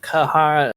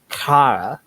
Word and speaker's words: Kara: It's not pronounced Kahara. It's just Kara, like that. That's how you pronounce it. Okay. It's a Slavic word.